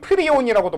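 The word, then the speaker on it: prion: 요즘은 프라이온이라는 표현보다는 프리온이라고도 많이 부르더라고. 왜 퇴보하는지 모르겠어. 원래 영어식 발음은 영어랜다. 그냥 원래 영어 발음으로는 프라이온이 맞는 건데 요즘은 그래서 여러분들 그 호르몬 같은 것, 효소도 배울 때 옛날엔 아밀라아제라고 배웠었거든.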